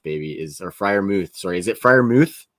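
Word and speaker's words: Freiermuth: group there is some athleticism there um but friar mouth baby is or friar mooth sorry is it firemouth it's mooth smooth okay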